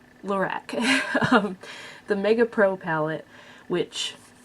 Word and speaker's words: Lorac: I assume it's pronounced Lorac because it's just Carol backwards, because the owner or creator or whatever is Carol. It's not a fancy French name. Lorac.